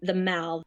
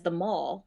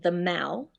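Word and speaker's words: The Mall: the end is the the Mal you would read it as the Maul but it's pronounced the Mal and it is of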